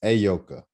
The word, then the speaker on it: Ayoka: Last time I kept saying Miss Lee because I didn't even want to, but it's Ayoka. There we go. And I remember it because I pronounced it.